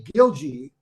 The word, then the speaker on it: Gilje: In pronunciation, the Norwegians say Gilje, but most Americans say Gilje.